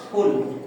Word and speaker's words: ফুল: বোকা ঠিক আছে বাংলায় ফুল যেটা ইংরেজি হচ্ছে ফ্লাওয়ার সেটা যদি বলতে চাই তাহলে আমাকে বলতে হবে ফুল বাতাসটা বের হবে না মুখটা ঠোঁটটা বন্ধ রেখে হ বলো তো হ